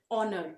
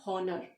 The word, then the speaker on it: honor: starts with edge but h is silent here it's we always pronounce it honor okay it's not horner it's honor so we